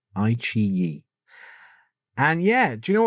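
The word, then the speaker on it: iQIYI: And I will tell you that the Chinese version of Netflix is called II. Um, spelled IQI Yi, but pronounced II.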